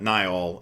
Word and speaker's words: Niall: Niall is often pronounced Neil.